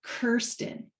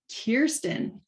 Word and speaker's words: Kirsten: and I didn't know that her name was Kirsten. I thought it was Kristen. But when I was viewing her profile to give her some feedback, I clicked the pronunciation to learn that she pronounces it Kirsten.